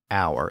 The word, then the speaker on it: hour: And now think about words like honor, honest, and hour, as in time of day.